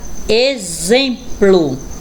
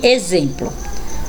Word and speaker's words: exemplo: a próxima palavra exemplo olha aí o x com som de z exército Então realmente o X Ele fica totalmente diferente na pronúncia da palavrinha escrita com ele então aí com z eu tenho exame exército e exemplo vamos ver x com